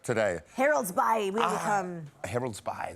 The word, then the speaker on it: Harold's Bay: Harold's Bay, that's how you say it, eh? Harold's Bay. Harold Bay? That's exactly how to say it.